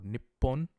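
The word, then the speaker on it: 日本: Japan in Japanese is Nihon or Nippon both I mean it's a pronunciation choice so it is knee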